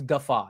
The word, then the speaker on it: guffaw: Of course, it's guffaw instead of goofaw.